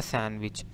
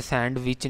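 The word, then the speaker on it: sandwich: इसी तरह आ जाता है सैंडविच, सैन इसे सैंडविच नहीं पढ़ते, इसे सैंडविच पढ़ते हैं, यानी कॉमनली जो मिस प्रोनाउंस वर्ड है सैंडविच, डी साइलेंट है इसमें, या सैंडविच भी पढ़ सकते हैं इसे, ठीक है।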